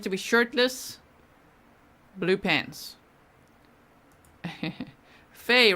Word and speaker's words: Faye: Faye, Rhymes with Slay, says, gee, I went to bed 6 hours ago, you were live.